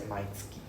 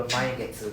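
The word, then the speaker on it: 毎月: For now, just take it that every month is pronounced as Mainski. Please take note of this. If you go and tell people Mai Getsu, then they're like thinking, what is Mai Getsu?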